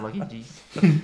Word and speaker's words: Lucky Gs: GGG. Yeah. You don't say it like that, eh? Someone took Lucky G's. Nah. But you get it right because there's multiple G's, so it's Lucky G's.